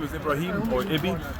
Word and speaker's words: Ibrahim: the community you're from uh my name is ibraim or iby it's i b r a h